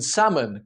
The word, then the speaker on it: salmon: The L in salmon, calm, and should.